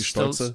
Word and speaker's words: Stolze: We have Jeff Robuski on Goblins and Philipp Stolze. Is that how you say it, German? With if it's German, it would be Stolze.